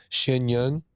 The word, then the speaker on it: Shen Yun: So then comes, and please feel free to correct my pronunciation, Shen Yun.